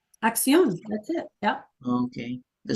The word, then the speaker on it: acción: Did I pronounce it right? Axion. acción.